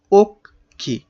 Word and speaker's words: অক্ষি: শব্দের অক্ষর বিন্যাস করো অক্ষি ওখি দুই ভাগে ভাগ করে উচ্চারণ করা যাচ্ছে না তাইতো নাকি যেহেতু দুই